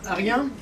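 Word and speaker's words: Aryen: Alors, Arien, je vais vous expliquer brièvement, ça s'écrit A comme Albert, R comme Robert, Y comme Yves, E et N.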